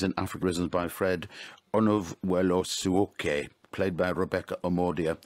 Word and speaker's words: Onovwerosuoke: That was a Raging River Dance, 24 Studies in Africa Rhythms by Fred Onovuelosuoke, played by Rebecca Omordia. How do I do in the pronunciation, Rebecca?